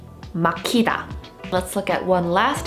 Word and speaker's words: 막히다: Here, Hieut is not the 받침, but it is following another stop 받침, so it still indicates that it should be aspirated. So a word like this would be pronounced 막히다, 막히다.